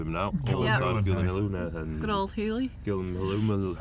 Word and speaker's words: Gyllenhaal: And also the film that introduced us to the wonder that is Jake Yes, Gyllenhaal. that's true. That is how you correctly pronounce his name.